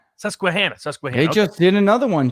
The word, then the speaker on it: Susquehanna: to their credit uh i'm going to mispronunciate their name sussequanna is that it susquehanna they just did another